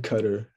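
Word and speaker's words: Qatar: how you pronounce it yeah okay it's in cutter so it's in november pronunciation expert someone used to be like so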